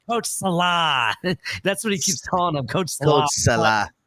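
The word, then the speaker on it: Saleh: well you can say Salo but the way that bich says it he extends the a like almost like it's a salad or something you know Salah he kep saying coach Salah that's what he keeps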